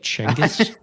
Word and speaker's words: Chinggis: sleep on the Apparently his name is actually pronounced something closer to like changus you know I just did the most embarrassing